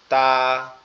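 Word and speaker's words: ت: তার নাম হচ্ছে তা তা আর এটার উচ্চারণটাও খুবই সহজ আমাদের জিহ্বার আগা উপরের দাঁতের গোড়ার সঙ্গে লাগবে লেগে হালকা করে আওয়াজ হবে তা তা এভাবে এরপরে যে আরো একটা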